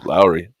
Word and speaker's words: Lowry: Lowry?